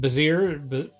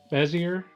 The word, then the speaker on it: Bezier: And you mentioned you're going to be working with is it Bazir? Bezier I don't know how to pronounce it. It's it's bezier. Bezier. Yes. It's a French game.